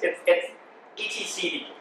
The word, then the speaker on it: etcd: Some people pronounce it etcd, but also some people pronounce Linux Linux. So it's etcd, and it's a distributed file system, allowing you to actually make changes across the cluster.